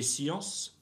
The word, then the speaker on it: sciences: La géographie, les sciences politiques, don't pronounce final consonants, right? So don't touch that S at the end of science. Don't touch that S at the end of politique.